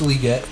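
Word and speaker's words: Legette: receiver Xavier liette liette he said that's how you say it I'll respect him liette Le liette I like Xavier liette better but he says it's liette so we'll go with it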